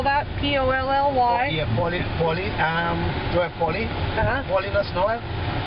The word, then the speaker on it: Paulinus: It's Paulinus Noel. YouTube. I think only if it's Paulie. I haven't been on YouTube a while. And how do you spell that? P-O-L-L-Y? Yeah. Paulinus Noel. P-A-U-L-I-N-U-S. All in us.